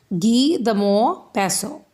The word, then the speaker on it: Guy de Maupassant: Guy de Maupassant. This is read as, or you can say pronounced as, Guy de Maupassant.